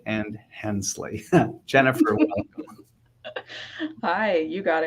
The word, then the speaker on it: Hensley: and now, let's see if I get these pronunciations right, Herrig, Vogt, and Hensley.